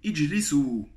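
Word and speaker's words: اجلسوا: Donc encore un exemple d'un alif qui s'écrit mais ne se prononce pas.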